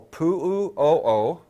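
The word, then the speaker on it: Puʻu ʻŌʻō: near the Kilauea volcano the main vents call poo ooh oh oh and it's spelled just like it sounds I want to write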